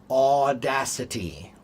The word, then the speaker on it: audacity: A like au is a. It's almost the same like a wee. A like awesome. Okay. So, authenticity, audacity, like when you see a cute baby. What What's the sound you make when you see a cute baby? A authenticity. Audacity.